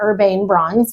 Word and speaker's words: Urbane Bronze: And so I've done Urban Bronze by Sherwin-Williams. Some people pronounce it Urbane Bronze because there's an E on the end of it.